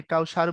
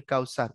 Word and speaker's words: কাউসার: এটার উচ্চারণ যখন আমি করি, আমি কাউসার বলি না, আমি বলি কাউসার, স এর মতো হয়। কিন্তু ধরো কেউ যখন সাহেব বলেন, তখন কিন্তু আর সাহেব বলেন না, তখন বলেন সাহেব।